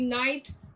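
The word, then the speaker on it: knight: They distinguish words like K-N-I-G-H-T night versus N-I-G-H-T night.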